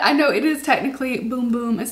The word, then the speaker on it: Bum Bum: boom boom scent i always i keep saying bum bum i for will forever say bum bum because i just do but i know it is technically boom boom is how it's pronounced and it is um